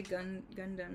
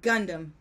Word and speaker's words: Gundam: You say Gundam like a Japanese person. Gundam. But Americans say Gundam.